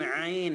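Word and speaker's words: عين: আমি বলি নুন জিম আইন আইন গলার ভেতর থেকে বলতে হবে নুন জিম আইন লাম হ্যাঁ মিম আলিফ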